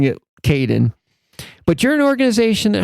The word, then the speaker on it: Kadin: sure so thank you for thank you for pronouncing it Kaden but you're an organization that helps women entrepreneurs